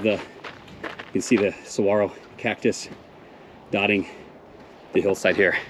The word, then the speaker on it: saguaro: last ascent right there those are saguaros hey don't ever say that again Saguaro the G is silent so ahead of us